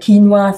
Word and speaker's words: quinoa: I think if you could sort out the quinoa thing, which is quinoa should be spelled Keenwa. It should spell it phonetically on the front of the package.